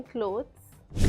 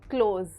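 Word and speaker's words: clothes: माय क्लोथ्स you mean क्लोथ्स क्लोथ्स नॉट क्लोथ some times जब हम fast कोई sentence बोल रहे हैं पीपल टेंड टू से क्लोज बट it's always क्लोथ्स for example I need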